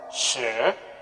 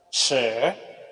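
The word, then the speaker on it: 十: Jadi bacanya she. Jadi ini adalah nada 10. She. Jadi she ini dia pakai nada yang keberapa nih? Dia menggunakan nada yang kedua. She. Jadi nadanya naik ke atas.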